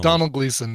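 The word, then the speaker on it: Domhnall Gleeson: a small request please pronounce uh dom hanol gleeson's name correctly is pronounced the same as donal yes so it's donald gleason and i i'm completely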